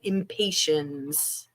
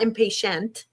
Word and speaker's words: Impatiens: Impatiens. I'm impatient. It's not spelled the same way. Impatiens. Impatiens, not impatient.